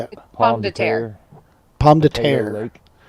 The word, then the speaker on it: Pomme de Terre: Is it Pommy or Pomme de Terre? I don't know how to say it. Pomme de Terre.